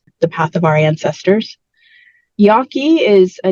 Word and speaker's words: Yaqui: it's people are scattered there are a lot of different ways of spelling that and pronouncing it as well yeah generally it's Yaki and y y is